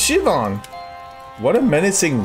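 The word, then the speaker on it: Siobhan: Sioban? Sioban! It's pronounced Shivan!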